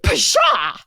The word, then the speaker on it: pshaw: Pshaw. It's spelled pshaw. Mine's spelled for.